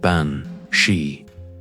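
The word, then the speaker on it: bean sí: In Irish Gaelic, she is the beans su pronounced ban she which translates simply as woman of the fairy mound or fairy woman.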